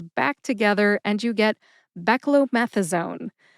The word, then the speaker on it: beclomethasone: Anyways, put all five syllables back together and you get beckromethasone. Emphasize meth. See if you can hear the emphasis when I say it again. Beckromethazone.